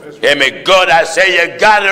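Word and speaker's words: عيسى: In the Arabic language, it's pronounced Isa.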